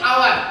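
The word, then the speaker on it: hour: কিন্তু যখন উচ্চারণ করব, উচ্চারণের সময় এটাকে হাওয়ার বলবো না, এটা হচ্ছে আওয়ার।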